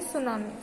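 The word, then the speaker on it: tsunami: T silent है तो हम इसको बोलेंगे सुनामी.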